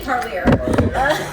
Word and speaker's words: Parlier: It's definitely Parlier.